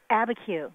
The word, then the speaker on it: Abiquiu: Abiquiu.